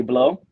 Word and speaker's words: Blot: My name is Blot. That's BLOT. The T is silent because it's French.